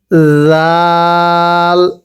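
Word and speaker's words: ذال: এই দালটাও শক্ত করে উচ্চারণ করতে হবে, জাল। তবে জালটা নরম করে পড়ব, আর জালের উপরে এক নক্তা হবে, পড়ুন দাল জাল।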